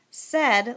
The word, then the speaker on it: said: Said looks a lot like these words, and it seems like it should rhyme with paid and braid. And a long time ago, I think they used to say said instead of said. I said a funny joke. But now we say said instead of said, so